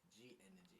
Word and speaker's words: G3n3xgy: And it is pronounced G Energy.